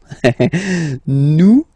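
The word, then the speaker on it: nous: sorry about that oops new Su okay new Su okay so you don't pronounce the final s here it doesn't exist Su new Su okay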